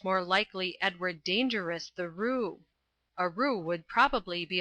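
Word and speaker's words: roué: Oh yes, a Roo. At least it's spelled R-O-U-E. That must be Roo all right.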